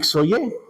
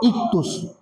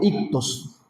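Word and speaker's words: ΙΧΘΥΣ: Porque eh cada letra tiene un significado y no se pronuncia xoy, ¿verdad? Eso es lo que nosotros leemos, pero se pronuncia ictus o ictos.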